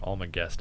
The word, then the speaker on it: Almagest: the almagest um i never know how to pronounce it all my guest a-l-m-a-g-e so it's just this really famous compendium